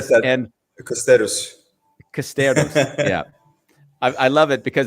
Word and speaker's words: Costerus: Today we're on Bambos with your dear friend, Nicole Nicole Costerus. Costerus. She said Costerus that. and Costerus. Costerus.